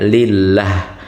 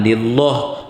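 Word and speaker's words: لله: Bilanya sebelum kalimat Allah itu hurufnya kasrah, maka dibacanya lillah, jangan lillah.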